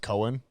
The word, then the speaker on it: Cogan: i think it's yeah it's a weird irish spelling it's in itself pronounced cohen or i gotcha yeah yeah